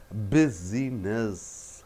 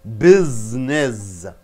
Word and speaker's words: business: Busyness. You don't say busyness. What do you say? Business.